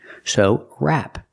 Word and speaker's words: wrap: When you see WR, the W is silent. So wrap.